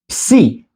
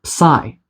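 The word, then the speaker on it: ψ: And then we have psi, or psi.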